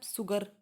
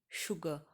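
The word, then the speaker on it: sugar: अब इसको ऐसे तो प्रोनाउंस नहीं करते ना आप, सुगर, सेड नहीं, शुगर, शेड, ऐसे प्रोनाउंस करते तो बड़े श की ध्वनि निकल रही है, तो आप इसको ऐसे ही लिखेंगे।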